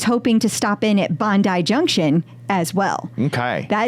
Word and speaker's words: Bondi: Junction that's right RZ I listened to the pronunciation you sent me Bondi not Bondi not bonde which is what I would have said that's totally what we would have said Bondi Bondi and uh and